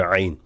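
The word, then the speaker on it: عين: ইনশাল্লাহ আপনার সহি হয়ে যাবে ইনশাআল্লাহ এই যে আইন আইন জবর আইন জের ই আইন পেশ উই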